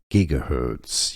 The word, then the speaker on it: gigahertz: unit electricity English pronunciation how to pronounce gigahertz yes the G is not soft it's hard gigahertz